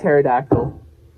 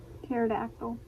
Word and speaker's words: pterodactyl: pneumonia i don't know it's like pterodactyl p is silent pterodactyl pterodactyl don't ask me to